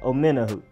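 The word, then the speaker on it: Omenihu: actually pretty easy once you know how to pronounce it it's just simply Charles omena who old men who Charles a minute who then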